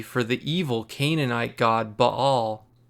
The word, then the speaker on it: Baal: the evil Canaanite god Baal or as we more commonly pronounce it baale with all of that